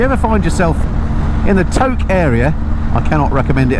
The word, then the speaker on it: Tok: we're just crossing the Tok River, look. I keep calling it Tok because it's spelled T-O-K. It's actually pronounced Tok as in poke.